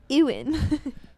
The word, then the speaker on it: Ewan: It's Ewan.